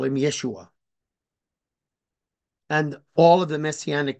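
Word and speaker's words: ישוע: but Yeshua is pronounced Yeshua the emphasis on the second syllable but mashia is on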